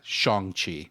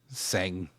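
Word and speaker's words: Shang-Chi: day and was like Dad it's uh shangi not sang not shangi and I was like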